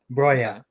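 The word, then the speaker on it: Broja: happy about that because brya brya is brya that's how it's pronoun doesn't matter how you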